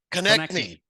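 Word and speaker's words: Konecny: Travis Konechny.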